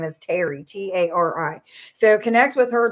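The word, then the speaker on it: Tari: of them's names is terry but it's spelled t-a-r-i i instead of like t-e-r-i or t-e-r-r-y it's t-a-r-i um so it's like terry like literally terry and then um i'm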